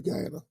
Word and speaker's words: Guyana: is when those people got over there to Guyana, if I'm Ghana, if I'm saying it right. No, you're right. Guyana, they were forced at gunpoint.